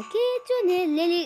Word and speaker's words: kitsune: By the way, guys, that's how you pronounce it, kitsune.